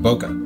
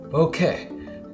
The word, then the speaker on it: bokeh: provided the pronunciation guide, bo, which is easy to say, and ke, as in Kenneth.